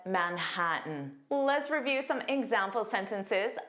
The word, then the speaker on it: Manhattan: Notice that N part would be pronounced as an unstressed tin. Manhattan. Manhattan. But I listened to the first 20 clips on the website English and zero of the speakers used this pronunciation. All speakers used the glottle stop and said Manhattan.